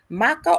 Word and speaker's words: maca: Maca or matcha? How do you pronounce that?